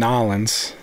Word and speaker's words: New Orleans: Katrina and almonds and nollans that's how they say it it's really weird he actually got like